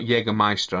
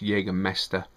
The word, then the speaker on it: Jegermester: hella jaeger master i i think it's pronounced jaegermes it's not jagermeister i know that it's jaeger mester which has master hunter in in swedish i'll finish so um